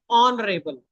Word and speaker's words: honorable: He was widely regarded as an honorable man because even though H is there H is silent. We speak it as honorable.